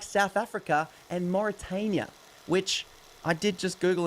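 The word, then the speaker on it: Mauritania: You say it as Moritania.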